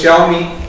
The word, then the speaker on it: Xiaomi: Apple of China it's a company called xiaomi pronounced as xiaomi x i a o Mi I uh in